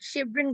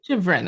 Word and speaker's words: Chevron: I apologize hi hi my name is like Chevron gas station Chevron okay okay great but